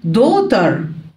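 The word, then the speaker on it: daughter: العم او الخالد ابنه دوتر دوتر الجي والاتش هنا تكتب ولا تنطق جد جرام فاذر جرام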